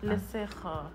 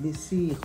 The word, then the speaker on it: Lesejo: So, as I was saying, is it Lesejo or Lesijo? Lesejo. Okay, I'm going to say it right. I hope I'm going to say it right. There's no high notes on this one. Oh, no, it's because of the way you said it. Lesijo. No, okay. Lesejo.